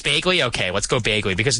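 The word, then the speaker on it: Bagley: I don't even know how to pronounce anything these days, man. Just these guys. It's Begley.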